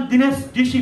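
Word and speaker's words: दिनेश डीसी: Main नाम नै, मैले मेरो नाम दिनेश डिसी भन्ने नै उच्चारण गलत गर्छु भने, मेरो सको पातलो स नगरेर डिसी भनेर बाक्लो गर्छु भन्ने बित्तिकै त म गलत कम्युनिकेसन पनि गरिरहेको छु कि मलाई स र सको उच्चारण थाहा छैन, अनि मेरो पोइन्ट घट्छ।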